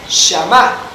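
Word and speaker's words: שמע: En el Antiguo Testamento se utilizaba el hebreo, y en hebreo la palabra obediencia se pronunciaba shamá.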